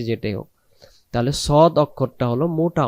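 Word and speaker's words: صاد: না তা উদাহরণস্বরূপ দিলাম তাহলে সদ জবর সদ জবর সওয়াদ সওয়াদ এমন হবে না উচ্চারণ নাম সদ এই যে বাংলাতে তাকান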